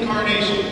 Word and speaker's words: Encarnacion: for more Republican party my name is Incarnation it is a long name it's the one